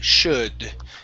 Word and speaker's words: should: number one shop okay should okay now remember the l is silent in this word so if you like